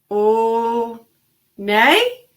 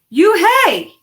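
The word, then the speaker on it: Unhei: a girl asked on high said on high Oh nay the girl asked scrunching her face Oh nay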